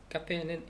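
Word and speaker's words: café: 카페는 에에 틸데가 있네요. 그러니까 카페. 이렇게 하면 된다.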